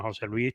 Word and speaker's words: José Luis: pero realmente a mí todo el mundo me llama José Luis pegado, no, no con acento.